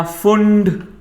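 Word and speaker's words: Pfund: फिर आया पैशन, फिर आया ब्रैकेट, फिर आया फुंड, पी जिसमें साइलेंट होता है, एंड लास्ट इज हमफ्री।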